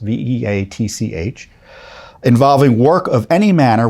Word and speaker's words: Veatch: Black and Veatch, I think that's how it's pronounced, Veatch, involving work of any manner with biosafety laboratories in the country of Ukraine.